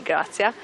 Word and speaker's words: Grazia: Oh, I think, is in all the world, maybe in different pronunciation, but in Italy we say Grazia.